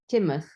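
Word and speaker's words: Teignmouth: She's I'll mispronounce this, but she's near Tidmouth. Timoth.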